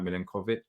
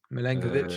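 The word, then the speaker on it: Milenković: I don't know if I pronounced his name right, Milinkovic. Milenkovic, yeah.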